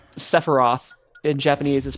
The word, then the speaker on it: Sephiroth: I was just saying Sephiroth in Japanese is pronounced Sephiros because the th makes an s sound, and the ph is just treated as p.